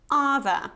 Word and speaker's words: other: not other okay it's other so you have this ah sound like cut other other of course